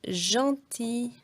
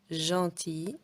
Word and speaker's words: gentil: Mais parfois, la lettre G, elle se prononce comme le J. Et on va dire par exemple gentil, girafe, gym. Donc quand il y a un E, un I ou un Y, on ne prononce pas G, G, non. On prononce J, gentil, girafe, gym.